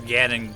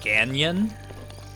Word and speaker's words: Ganon: yeah, so Spring said, sometimes accidentally calls Ganon Ganyan. Like the Grand Canyon? And that's exactly how I explained it when I was trying to help them pronounce it correctly.